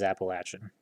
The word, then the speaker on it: Appalachian: It is Appalachian.